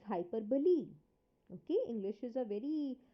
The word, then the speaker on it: hyperbole: hyperbole first of all please note the pronunciation it is not hyperbole it is hyperbole okay English is a